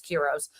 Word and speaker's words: Kiros: It's not Kilos, it's Kiros.